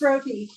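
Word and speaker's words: roti: o t i my sister would know it's Roy oh thanks Jesse say it again it's Roy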